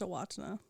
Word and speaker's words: Owatonna: It is actually pronounced Owatonna. What? Because it's a Native American word.